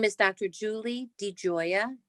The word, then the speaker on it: DiGioia: you please um say your name and also spell it certainly my name is dr julie de joya d i g i o i a thank